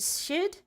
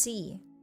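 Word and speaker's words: Sídhe: I can't pronounce that. I'm so sorry, Audra. In Irish mythology. Is it Shid?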